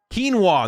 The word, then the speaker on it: quinoa: Wait, is it actually pronounced kuan? Am I actually pronouncing it right? Quinoa.